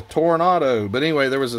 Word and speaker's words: Toronado: of the ozmobile toronto i was calling it a toronto in my video i am so shocked that i didn't get blasted with comments saying you're saying it wrong dummy it's a toronado but anyway there was